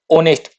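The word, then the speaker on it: honest: example आ गया, ऑनेस्ट, इसकी शुरुआत हो रही है एच साउंड, एच वर्ड से, और एच क्या है, कांस्टेंट है, कांस्टेंट होते हुए भी ये यहाँ पर क्या है, साइलेंट है, तो यहाँ ये कैसी प्रोड्यूस कर रहा है आवाज, ऑनेस्ट, इसको कैसे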